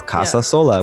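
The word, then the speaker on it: Casasola: And even though it's really not that hard, if you look at it phonetically, it's Casa Sola, which actually means home alone in Spanish.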